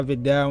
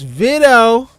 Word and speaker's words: Vito: I got my guy Vidal in the chat, man. Oh, but hold on. It's not Vidal. It's Vito. It's Vito. I peeped that. He pronounces it Vito. My bad, bro, for pronouncing it wrong.